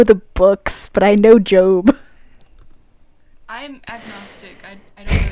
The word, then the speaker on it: Job: mean but only turmoil job was a man honest and adoring Justice wait what no no wait I think it's job it's pronounced job right oh oh book book of Job to a Catholic School